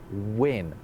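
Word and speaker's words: wynn: It is an old letter called win.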